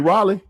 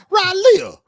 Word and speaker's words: Raleigh: You mean Raleigh?